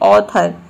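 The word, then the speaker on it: author: हैं जैसे की देखिए यहां पे है ऑथर यहां पे ए को हम ओ प्रोनाउंस कहते हैं ऑथर में ऑथर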